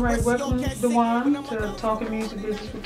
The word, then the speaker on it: Dw'Juan: Well, actually, Dw'Juan is my real name, but it's supposed to be pronounced Dw'Juan, kind of a French way.